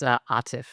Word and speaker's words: Atif: One little thing, it's Atif as opposed to Atif.